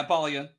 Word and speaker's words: Apollyon: Yeah, Apollyon.